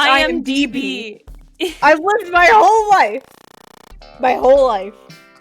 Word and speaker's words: IMDb: Wait, I said IMBD. Oh, it's IMDb.